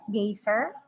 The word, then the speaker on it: geyser: Distinct pronunciation for certain words, geyser, rhyming with riser, oral with sorrel, first syllable of vitamin like high is as like high as in American and Scottish English.